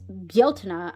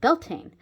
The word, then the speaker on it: Bealtaine: I've never pronounced it like that. Even before I knew that it was Bealtaine, I used to say Beltana because one of